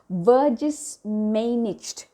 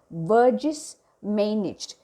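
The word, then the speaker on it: Vergissmeinnicht: is the title is a bit difficult to pronounce but i'll try my best it is called verges managed burgess managed v e r g i s s m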